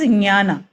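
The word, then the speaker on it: jnana: that uh history so Gana yoga is one the right way to pronounce is nyana okay but I would say Gana so it becomes easier for everyone to kind of search for it um that is the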